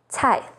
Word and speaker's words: 菜: C sounds like ts, as in 菜, vegetable or dish, 醋, vinegar, and 猜错, to get something wrong.